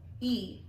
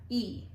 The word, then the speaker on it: y: So to say and in Spanish, it's a Y, but it's pronounced E, like the letter E. Yeah, E.